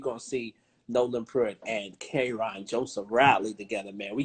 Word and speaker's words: Karon: It's Karon, not Karon. Karon, what I say? You sounded like these country bumpkin white folks trying to say my name, but it's all good. It's Karon.